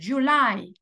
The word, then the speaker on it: July: español decimos Julio pero en inglés decimos July la sílaba tónica es la segunda no decimos Juli No